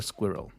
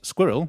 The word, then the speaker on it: squirrel: Tate's grandma with the squirrel. Best thing ever. The British pronunciation is squirrel, like I'm saying, but in America, they say squirrel.